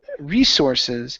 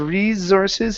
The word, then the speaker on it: resources: Next up, we have the word um resources. So, here you pronounced a uh a voiced s saying resources. Instead of resources, it's resource.